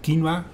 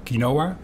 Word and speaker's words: quinoa: Yeah, what we provide is quinoa. That's the pronunciation from Latin America, or quinoa, because now we grow it in the Netherlands.